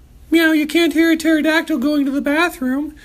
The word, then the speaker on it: pterodactyl: Why can't you hear a pterodactyl going to the bathroom? Meow, you can't hear a pterodactyl going to the bathroom because the P is silent.